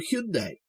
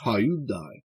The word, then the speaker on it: Hyundai: were much more memorable they were Hundai although being British we still tend to pronounce it Hyundai and they went to